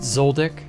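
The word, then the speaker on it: Zoldyck: it's zon zodlik okay I've heard it pronounced zoldick unless yours is special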